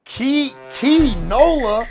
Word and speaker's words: Kee Nola: weeks ago before this man, how do you pronounce bro's name? Key Nola.